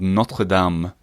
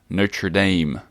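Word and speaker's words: Notre-Dame: right in French it's called notam not notra Dame because I know I think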